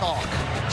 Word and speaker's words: Chock: Guy and not Is Is it Chuck or Chock? Chock. Say, can you spell that for me? Chock. c h o c k That's the man's first name, Chock.